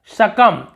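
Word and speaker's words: succumb: यहाँ पर वैसे होता है शकम, शकम यानी झुक जाने को हम शकम कहते हैं, ठीक है, शकम, एम तक के पढ़ना है, बी को नहीं पढ़ना, शकम।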